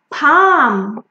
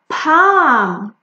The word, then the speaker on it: palm: Palm, palm. Look at this, it's a palm tree.